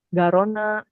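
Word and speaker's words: Garonne: Kalau Ah, dia setelah N itu ada huruf E kayak gini Seina, Garona, Rona. Nah, itu bacanya N-nya kebaca N, dia nggak kebaca sengal.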